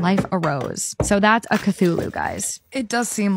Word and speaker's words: Cthulhu: I'm so confused what a Tchula is.